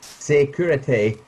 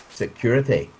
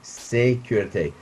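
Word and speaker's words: sécurité: frequently it should be security but nowadays most people say security but it should be security now normally i would ask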